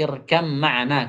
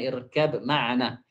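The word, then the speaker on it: ارْكَبْ مَعَنَا: Pengucapan, pengucapannya berubah menjadi irkam makna kata beliau bukan irkab makna."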